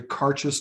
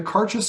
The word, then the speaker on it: Cairdeas: Yeah, I heard a bit more of, I think, an I in there around a Cairdeas.